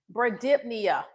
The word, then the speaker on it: bradypnea: So, if someone's respiratory rate is less than 12, it's b r a d y p n e a And you got to add the dip in there. How do you pronounce it?